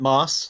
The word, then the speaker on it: Maass: we have now I want to say mass but I notice it's M double a SS how do you pronounce your surname I generally pronounce it mass like the green stuff on Iraq okay your pronunciation was